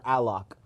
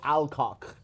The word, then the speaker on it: Alcock: I wish I never knew how to pronounce her name because I was calling her Alcock. Now I know it's Alcock.